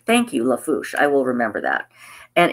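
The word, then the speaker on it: Lafourche: Half Fast Haku says, basically pronounce La Fouche Parish. Thank you, La Fouche.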